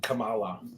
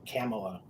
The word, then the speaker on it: Kamala: __ ] huh but apparently it's not pronounced Kamala it's Cala which yeah which you